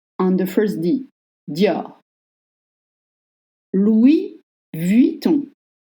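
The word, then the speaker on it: Louis Vuitton: on the first dior Louis Viton Louis Viton is hard because first you don't pronounce s of Louis L and Louis Louis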